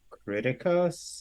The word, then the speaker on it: Criticos: um oh it's CR c-r-i-t-i-c-o-s c-r-i-t-i-c-o-s yes criticus yes criticos okay wait how do you say